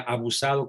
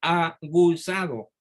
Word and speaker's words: aguzado: Y yo crecí con la idea de que se decía abusado con B de burro. Hasta que en tercero de secundaria, mi maestro de literatura me dijo, ¿qué? No se dice abusado cuando se dice aguzado con G.